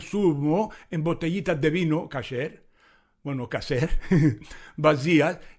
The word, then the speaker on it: kasher: y eso no es kasher de Pesaj. Pronunciación incorrecta de kasher. Kasher, se dice kasher en hebreo, que significa preparado según las reglas dietéticas judías.